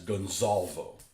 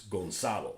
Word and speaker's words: Gonzalo: My big pet peeve is when they refer to that Spanish general as Gonzalvo. His name ain't fucking Gonzalvo, okay? It's Gonzalo.